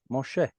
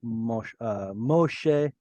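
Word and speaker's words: משה: El, unto Moshe. In Israel, we say Moshe. In the Bible, it's Moshe.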